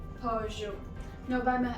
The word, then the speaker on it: Peugeot: No, it's Peugeot. Peugeot. Now, by my accent, it's quite obvious that it's from France, and we generally say it with that French tinge, so we say Peugeot.